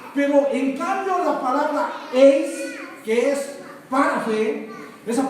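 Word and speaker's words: εἰς: Y para fe, y esa palabra para es eis, que se pronuncia eis.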